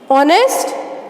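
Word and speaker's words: honest: ऑनेस्ट, इसमें H silent होता है, अब इसका साउंड ओ आ रहा है, इसलिए इसके आगे हमने क्या लगाया?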